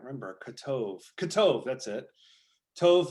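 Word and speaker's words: טוב: kotov katov that's it tov like uh mazel tov you've heard that phrase mazel tov that's actually mazel tov would be the more proper pronunciation uh cold tove is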